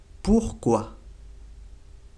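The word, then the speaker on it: pourquoi: dice aquí por qué se dice busco a porquoi busco a y cuantos se dice cumbia cumbia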